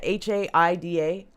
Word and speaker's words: Haida: native american intelligence officer captain how do you pronounce that h-a-i-d-a haida haida haida star eagle 17-year veteran of